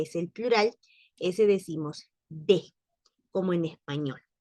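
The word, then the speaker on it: des: Y en el caso del tercero, que es el plural, ese decimos de, como en español. No pronunciamos la S, pero tampoco cerramos la pronunciación. Decimos de.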